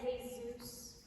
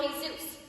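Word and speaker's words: Jesús: Manolo and Jesus. You don't pronounce the J.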